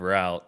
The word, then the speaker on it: route: FSL this weekend that I'm now saying route instead of route, which is the way that Americans say it.